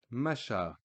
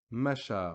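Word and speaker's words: مشى: nothing different ishtara Masha as if there was an aleph at the end a normal vertical stick alef that you learned from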